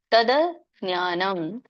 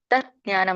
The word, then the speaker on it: ತದಜ್ಞಾನಂ: ತೇಶಾಮಾದಿತ್ಯವಜ್ಞಾನಂ ಪ್ರಕಾಶಯತಿ ತತ್ಪರಂ ಸ ಇದರೊಂದು ಉಚ್ಚಾರಣೆ ನೋಡೋಣ ಜ್ಞಾನೇನ ತದಜ್ಞಾನಂ ತದಜ್ಞಾನಂ ಇಲ್ಲಿ ತಜ್ಞಾನಂ ಅಂತ ಕೂಡ ಹೇಳ್ತಾರೆ ಅಜ್ಞಾನಂ ಅಂತ ಕರೀತಾರೆ ತದಜ್ಞಾನಂ ತದ ಅಂತ ಬರುತ್ತೆ ನೋಡಿದ ಆದಮೇಲೆ ಅ ಕೆಲಸ ಕೇಳಿಸುತ್ತೆ ಸ್ವಲ್ಪ ಹಾಗಾಗಿ ತದಜ್ಞಾನಂ ಅಂತ ಹೇಳಿನು ನೇರವಾಗಿ ಹೇಳಬಹುದು ಇಲ್ಲ ಅಂದ್ರೆ ತತ್ ಅಜ್ಞಾನಂ